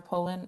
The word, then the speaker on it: Polon: yep yes hello hi uh is that polon poland poland poland uh miss poland would you state your name and spell it for the record please sure pulling p-o-l-o-n miss poland uh today your group